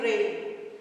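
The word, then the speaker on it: reign: Another one, R-A-I-N, rain. Next one, R-E-I-G-N, rain. Here G is silent.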